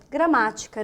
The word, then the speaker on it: gramática: proparoxítona a própria palavra gramática né ó gra a palavra gramática é uma proparoxítona Vamos dividi-la ó gra